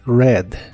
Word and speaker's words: read: read en el pasado y pasado participio es red el verbo gastar o también pasar tiempo en